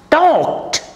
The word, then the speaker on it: talked: here l is silent and e d is pronounced as ta walked he walked very slowly walked and talked t-a-l-k-e-d he talked to me over the phone